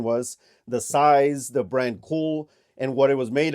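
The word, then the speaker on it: Kühl: And it is from the brand Cool. That right there is the Cool logo. That right there is how you spell it, K-U-H-L.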